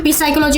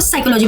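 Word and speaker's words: psychology: तो आपने पी साइकोलॉजी बोला तो सामने बोला नहीं इसको साइकोलॉजी पढ़ते हैं। पी साइलेंट होता है।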